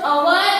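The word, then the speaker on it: hour: वी यूज and before अवर and honest when we pronounce these two words H remains silent. याद करो, सिखाया था मैंने आपको। अवर एंड ऑनेस्ट, हम जब ये स्पेलिंग प्रोनाउंस करते हैं तो उसमें एच जो है वो क्या होता है? साइलेंट होता है। क्या होता है? साइलेंट। ओके, सो प्रोनाउंसिएशन क्या होगा? अवर एंड ऑनेस्ट, ओ से प्रोनाउंस होता है।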